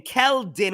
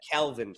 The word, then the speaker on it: Keldon: Keldon with the. That's what I said. Kelvin Johnson. You said Kelvin.